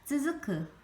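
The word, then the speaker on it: つづく: 이거는 쯔에 땡땡하면 쯔, 얘는 크다의 크. 따라 읽어봅니다. 쯔즈크, 이거는 계속 이어지다 이런 말입니다.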